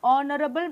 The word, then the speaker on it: honorable: We also write an honorable man since HO is pronounced as O, a vowel sound.